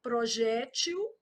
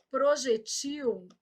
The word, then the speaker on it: projétil: Do mesmo tipo dessa, ó, projétil, projetil, e muda o plural, ó, projéteis e projetis. Cada uma aí do seu jeito. Então, aqui, ó, projéteis e projetis, projétil, projetil, tô marcando a sílaba tônica, tá?